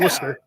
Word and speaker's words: Worcester: They're both like old British names, which is why they're pronounced way different than they're spelled.